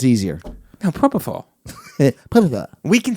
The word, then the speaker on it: Propofol: It's Proferol. Is that how it's pronounced? Proferol? It's Proferol. Hey, Proferol. Isn't it Proferol, Shannon? What's it called? Propofol.